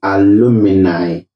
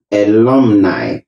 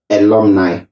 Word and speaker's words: alumni: you do not say alumini the correct pronunciation of the word is alumni here we have three syllables that is the correct pronunciation of the word alumni start practicing that you